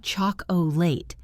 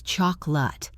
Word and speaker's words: chocolate: Look at the word chocolate. It is not chocolate. It is chocolate.